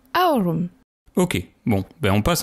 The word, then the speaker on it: aurum: C'est Au du latin aroom. On prononce plutôt Aurum.